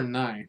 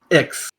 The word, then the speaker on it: iX: avenger x okay so is it x or nine what it's it's it's not nine it's x it's pronounced x it's very silly uh so why is it